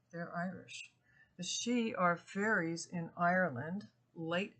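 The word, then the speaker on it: Sidhe: a name applied to the dark L's the she which is spelled s d h they're Irish the she are fairies in Ireland late elves were very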